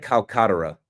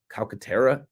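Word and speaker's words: Calcaterra: Grant uh Grant Kolkata. I don't think I pronounced the name right. Grant Calcara.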